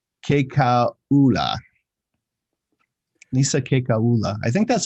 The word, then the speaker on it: Kekaula: I think the trick to pronouncing Polynesian names is you pronounce every vowel. Muyakalea Momo. Muyakalea Momo. Yeah, something like that. It's Kekaula.